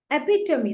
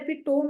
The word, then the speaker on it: epitome: एपिटमी, देखो इसका pronunciation होता है एपिटोम नहीं एपिटमी, जिसका मतलब होता है क्या बोलते हैं, बेस्ट एग्जाम्पल ऑफ समथिंग।